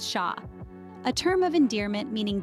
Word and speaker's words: cher: Then there's cher, pronounced sha, a term of endearment meaning dear or darling, used to express affection.